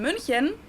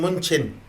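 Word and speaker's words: München: moved to munich to play for fc bayern munich byron fc bayern munian fc bayern munich yo that's fc bayern munchen yo fc volume mean munich as english speakers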